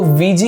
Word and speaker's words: Ouija: last में वीजी boards इनकी spelling और इनके प्रोनंसिएशन में बहुत डिफरेंस है इनको वीजी प्रोनाउंस किया जाता है कहा जाता है कि